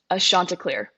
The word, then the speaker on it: Chanticleer: Now, how do you pronounce your mascot? Ashantar. Ashantar.